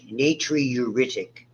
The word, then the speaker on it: natriuretic: lot of people call it the antialdosterone it's pronounced atrial Nat natriuretic peptide natri means sodium the old Latin name